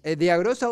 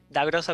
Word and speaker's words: D'agrosa: ¿Es Deagrosa o Dagrosa? Dagrosa Oquita, está muy bien pronunciado, Esteban.